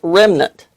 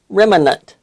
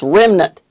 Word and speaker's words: remnant: dolls well all my life I've heard that pronounced Remnant and when I would read the word it was spelled Remnant recently I was listening to a weather forecast and the man used the word Remnant I immediately cringed and said boy it's Remnant